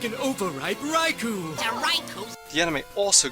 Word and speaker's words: Raikou: Well, you've heard it here, the correct pronunciation for this Pokemon is Raikou.